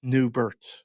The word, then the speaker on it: Neubert: Anyway, look, we can't compete with Dan Neuber, but I mean, that is stunning young love at its finest. First of all, if you're going to say his name, say it right. It's Neubert.